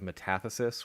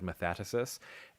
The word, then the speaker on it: metathesis: Instead of metathesis, when sounds get reversed in a word, I said metathesis.